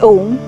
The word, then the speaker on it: Om: This universal sound is a combination of 3 syllables, A, U, and Ma. When we pronounce Om, as we say A, the lower portions of the body up to the stomach are activated. As we say U, the chest area is activated. With Ma, the face and the brain gets activated.